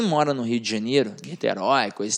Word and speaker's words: Niterói: Quem mora no Rio de Janeiro, Niterói, coisa e tal, se dá bem. Por quê? Porque é só olhar lá na barca. Niterói. E Niterói tem acento. Por quê? Porque é uma oxítona.